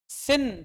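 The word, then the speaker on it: sin: जरा इसकी स्पेलिंग पढ़ो ढंग से क्या है सिन सिन मतलब होता पाप तुम पापी हो लेकिन फिर भी तुम इसको क्या पढ़ते हो क्यों पढ़ते हो साइन कभी पूछा है सिन को सिन को साइन कैसे बोल सकते हैं तुम इंग्लिश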